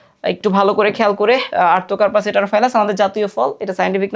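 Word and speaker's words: Artocarpus heterophyllus: কাঁঠালের সাইন্টিফিক নাম হচ্ছে আর্থোকার্পাস হেটারোফাইলাস।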